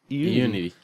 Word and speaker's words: Eunity: A website with silent letters was a great idea. No, it's there. Unity.